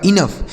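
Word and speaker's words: enough: इन और ओ यू जी एच का उच्चारण हमने क्या बताया? फ लिखा गया आपका इनफ।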